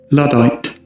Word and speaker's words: Luddite: If you want clues in how to pronounce things, looking at the spelling. I'm pretty sure it's Luddite. Is it Google? Luddite.